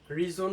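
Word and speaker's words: reason: স্যার এখানে আমরা দেখতে পাচ্ছি যে রিজন লেখা আছে। আমরা উচ্চারণটা করি রিজন।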